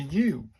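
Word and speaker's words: う: That's a u pronounced like the oo in zoo.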